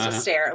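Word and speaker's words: Esther Perel: So, this was a stair which is spelled like Esther in the Bible, but she's Belgium. Belgian, so it's pronounced a stair.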